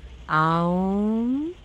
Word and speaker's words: Om: of the universe was Om. Yeah, we have to pronounce it as Aum, and in a way, Aum.